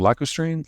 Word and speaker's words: lacustrine: Most of China's shales are, I can't pronounce the word all of a sudden, lacustrine?